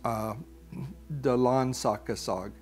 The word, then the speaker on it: Dalan sa Kasag: But the way it's actually said is Dalan Sa Kasag. So that is the way of Kasag.